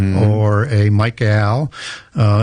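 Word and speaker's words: Michael: Uh, and I say that just deliberately where I have a eel little Yeah. Why do you say it like that? Well, because in angelic names, they end with a Hebrew word, a word which is eel, which is defined as an angel or a god.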